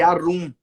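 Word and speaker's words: עָרוּם: Quando Adão fala, eu estou nu, essa palavra nu é uma palavra aramaica que pronuncia-se arum.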